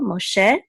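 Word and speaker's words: משה: is silence this is this is a pashta which shows that the accent is on the last syllable Moshe so this means Moses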